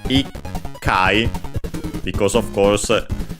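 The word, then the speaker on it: 一回: the number 1, and the final syllable, the chi, tsu, becomes small tsu and doubles the following consonant, ikai, because of course it's much easier to pronounce than ichkai o anche ichkai.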